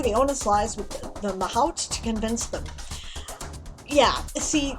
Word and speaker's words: mahout: Pronunciation. We have Google. It's here. Let's do it. Mahot. Mahout. Okay. Mahout.